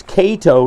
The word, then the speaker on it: Kato: and this is why I think it's Kato not K is because it's k a t o not two T's one t k phonetically that's how it should be said D Chi all over